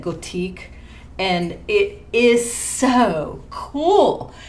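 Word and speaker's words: Gòtic: So they have one called it's spelled Gothic, but I think they say it Gothique.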